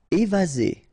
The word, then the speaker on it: évasé: Évasé, remember one S between two vowels, Z, évasé.